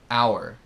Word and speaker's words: our: diferentes or or are our hor notem que our tem duas sílabas é a única palavra